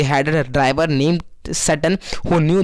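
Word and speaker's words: Tsering: लोगों ने लिया उसको ड्राइवर का नाम क्या था सैटर्न था यहां पर टी साइलेंट है वो न्यू ईयर रूट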